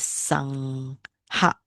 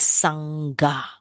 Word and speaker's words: sangha: So you cannot pronounce it sangha. It's not sangha, it's sangha. Right? This GH. Sangha.